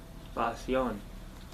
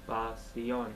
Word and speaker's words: pasión: Pasión. Pasión. Pasión. Good, and you pronounce the S, because we don't write sh. Pasión.